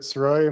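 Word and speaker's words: Sirois: the record yes sir my name is saroy my last name is spelled s-i-r-o-i-s what is your current occupation I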